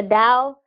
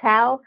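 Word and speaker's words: Tao: book would be the Dow with the spell ta o but it's pronounced Dow if you're being correct but it reads like tau of womanhood the Dow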